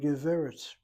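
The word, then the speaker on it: גברת: Notice where the accent is on the first syllable, not on the last. Why the first syllable? Because geveret has a short segul, open syllable, irregular, needs to be accented.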